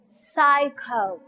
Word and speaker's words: psycho: the exception pizza next psycho okay here the p is silent and the letter p s together takes s sound next word best next